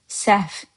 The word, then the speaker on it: səhv: Səhv is mistake. You see how I'm pronouncing it? You write səhv, but you say səhv.